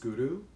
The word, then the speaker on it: Guru: And when you pronounce Guru, make sure you use your tongue to hit by the roof of the mouth and the back of the front teeth. So Guru, and the R kind of rolls a bit.